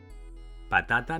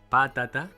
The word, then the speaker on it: patata: “Patata” doesn’t have an accent mark, right? This is so because the stress is on the second-to-last syllable. If it were on the third-to-last, "pàtata," it would have an accent mark. And if it were on the last, "patatà," too; but it is not so: it is "patata".